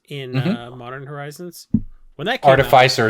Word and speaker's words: artificer: modern horizons when that car defy sir is definitely how you would say that word yeah not artificer it's a made-up word